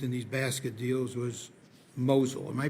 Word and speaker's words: Mosul: Now, the next entity Rentec used in these basket deals was Mosul. Am I pronouncing that correctly?